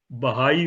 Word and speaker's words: Baha'i: this lotus temple is less of an historical importance rather than it is a temple of Baha'i faith.